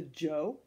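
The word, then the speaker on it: Zhou: BCE and then we have you say you pronounce this one the Jo the Jo dynasty from about 10:45 BCE all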